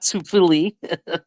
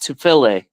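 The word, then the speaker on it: Tufele: it's not Tufili. I'll tell you that. I believe it's pronounced Tufile, and it's Jay Tufile, right? Is that the player you were talking about? Yes, it is. Yeah, Tufile is how you say it.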